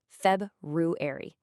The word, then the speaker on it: February: That first R can be super tricky and a lot of people just skip it. But to say it correctly, you really want to hit that sound. February.